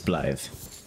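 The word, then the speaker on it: Blaidd: quest line blide blly I think it's blly it's spelled b a i d which is like an old weird spelling am I going the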